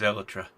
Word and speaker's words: elytra: No, I decided I should call it something different. Because it is Elytra. Is it?